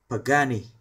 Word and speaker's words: Pagani: chứ phải là super kh đến từ ý pagani pagani Và đây là một hãng chúng ta